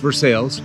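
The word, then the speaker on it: Versailles: park so our kamut route took us to versales state park it is pronounced versales lady there said no road's closed you can't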